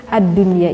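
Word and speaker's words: الدنيا: Sehingga untuk ad-dunya ini membacanya tidak kita dengungkan, tetapi kita jelaskan.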